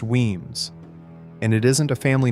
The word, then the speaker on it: Wemyss: Number 10, Wemyss, pronounced Weems, and it isn't a family name at all, it's a hole in the rock, Gaelic Uaim, cave.